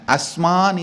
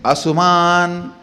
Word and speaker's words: Asuman: Asman is the original verse. The Padabetam is Asuman. The half U. Asuman.